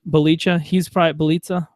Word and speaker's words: Bjelica: He's probably going to get Bjelica. Rhymes with pizza, I believe somebody told me.